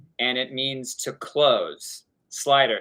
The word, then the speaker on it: Slyter: Slyter, Slyter. Is how they say it in Amsterdam, which means to close a business deal, to slide a door close.